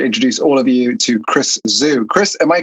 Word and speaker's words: Chris Zhu: And I am super excited to introduce all of you to Chris Zhu. Chris, am I correct in your surname's pronunciation?